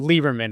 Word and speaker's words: Liberman: Lieberman. It's spelled Liberman, just Okay. to be different. But no, that's how, it's pronounced Lieberman.